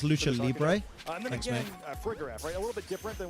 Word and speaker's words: lucha libre: saw so a little bit more it's pronounced lucha libre a little bit different than we usually see